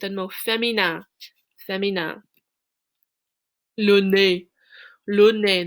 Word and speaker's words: nez: Le nez. Le nez, that Z at the end of the word is silent.